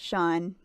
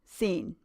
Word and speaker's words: Sean: middle name is sean granny refused to pronounce shawn s-e-a-n as sean because that was completely ridiculous everyone knows that s-e-a-n is pronounced scene i remember one afternoon